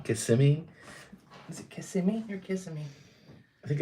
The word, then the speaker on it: Kissimmee: Is it Kissimmee or Kissimmee? I think it's Kissimmee. I think it's what the locals say.